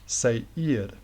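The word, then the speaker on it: Seir: location spelled s-e-i-r but you might pronounce that like um say ear I see each other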